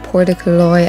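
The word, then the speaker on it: Portacloy: The cliff walk is 18 kilometers long and it's actually called Portaclough. I did pronounce it wrong in that original clip.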